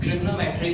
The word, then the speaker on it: Trigonometry: ठीक है, तो ट्राइगोनोमेट्री हम इसको ऐसे लिखते हैं, ट्रिग्नोमेट्री इसको प्रोनाउंस करते हैं जनरली.